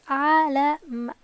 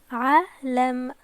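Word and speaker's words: عَلَم: With just Fatha, it's Alam, Alam.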